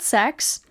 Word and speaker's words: CeX: It's called sex, but I call it Seeks, because it's spelled with a C, but also why would a game and console shop be called sex?